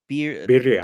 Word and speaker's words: birria: And I never know if I pronounce it right. Is it bira? Birria, Be birria.